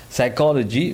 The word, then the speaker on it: psychology: psychologies one of them psychology which is the study of mind and how does it work it starts with a P but the P is silent as you know so